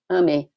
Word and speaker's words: AME: The Spiritist Medical Association, in Portuguese, is Associação Médico Espírita, and in Brazil, it's known by the acronym AME, pronounced AME, which means, in Portuguese, love.